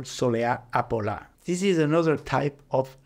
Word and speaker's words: Apolá: So el polo, la Soleá Apolada, kind of to match el polo, became Apolá in Andalusian pronunciation.